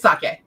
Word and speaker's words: sake: here's your thing is emphasis in Japanese more often than not is on the first syllable but in English it's usually on the second yeah so saki means